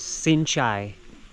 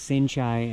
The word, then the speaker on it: Sinchai: This is located about 10 kilometers away, and the name of it is Sinchai. It's spelled SINCHAI.